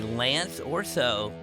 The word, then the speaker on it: Lance Orso: I'm your host Oliver Rebecca and today I'm in the booth with my good buddy Lance Orso. Yeah, I pronounced that right?